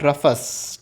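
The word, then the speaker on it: Rufus: रफस, ठीक है, रफस या फिर रूफस, जो भी इसका प्रोनाउंसिएशन है, ठीक है, आप जो भी कह सकते हो, रफस या फिर रूफस।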